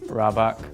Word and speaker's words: rabak: Rabak. Rabak? Yeah, rabak. Am I pronouncing it right? Okay, I think in Singaporean, like Singlish slang, you just have to go downwards. Rabak.